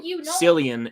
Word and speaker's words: Cillian: To me, because it's the term Sicilian. That's what I look Sicilian. You've heard that term? No. It's like there's Sicilian pizza, I believe. Let me look this up. Actually, I don't even know how to spell it. What do you laugh? What do I do wrong? If it's not spelled it's spelled like this. Sicilian. So Cillian in Sicilian.